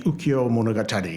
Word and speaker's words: ukiyo: a book called the Ukiyo-e Tales of the Floating World. And instead of writing it that way, he wrote it this way. It's pronounced the same way, ukiyo, but in this case it means floating.